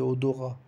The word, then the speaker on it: odorat: E o T não se pronuncia de odorat, é uma palavra masculino.